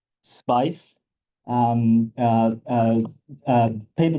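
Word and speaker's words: SPAICE: sp a i c I was told it's pronounced spice um uh uh uh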